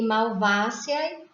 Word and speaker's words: Malvaceae: Família, categoria taxonômica, e Malvaceae seria o táxon. E a subfamília, categoria taxonômica, e Malvoidae seria o táxon. Então, a pronúncia do AE, coloca-se somente o E no final.